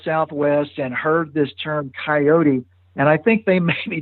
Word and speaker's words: coyote: and heard this term coyote. And I think they maybe decided it was a little too fancy for them. So they simplified it to just two syllables, to coyote.